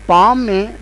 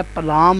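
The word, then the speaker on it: palm: यह बनेगा पाम पाम अब आप यह सोच रहे होंगे कि इसमें एल कहां गया एल जो स्टोक जो है वो यहां पर साइलेंट है क्योंकि वोह प्रोनाउंस नहीं हो रहा तो इसको हम कहेंगे पाम ये पाम लब्ज है पलाम नहीं है यह थोड़ा सा जन में रखिएगा कई स्टूडेंट इसको पलाम पढ़ते हैं तो कुछ इंग्लिश के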